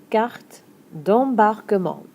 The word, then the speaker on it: carte d'embarquement: Une carte d'embarquement carte d'em- bar-que-ment. All the syllables get used!